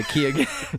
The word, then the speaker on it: Keoghan: correct the pronunciation, and he pronounces it with a G in there. He's on hard record. G? He's on record saying it's the soft G, the Keoghan.